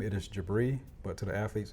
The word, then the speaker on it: Jebreh: And if you are to say my first name, it is Jebreh, but to the athletes, it's Coach. Okay. Just make sure we say my name correctly. But Jebreh or Jebreh is actually fine.